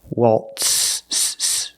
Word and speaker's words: waltz: We use the true S sound, waltz. So the T and the S together make the sound tss, tss, tss. Waltz.